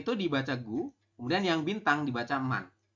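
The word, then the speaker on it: 구: 9 itu dibaca gu, kemudian yang bintang dibaca man.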